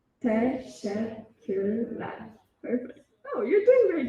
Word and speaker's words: teşekkürler: Teşekkürler. Teşekkürler.